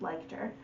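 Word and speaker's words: Leichter: by hillary liked her i did find out how to pronounce her last name it's liked her so if you've read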